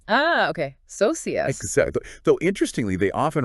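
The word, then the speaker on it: Sosías: And their name Elosius, that's pronounced soas. The stress is on that I. Ah, okay. Socius.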